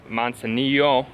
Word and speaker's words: Manzanillo: I believe this is Playa Manzanilla, not to be confused with the city of Manzanillo. Well, there's not an accent on the O, but I was trying to emphasize that there's an O at the end in the state of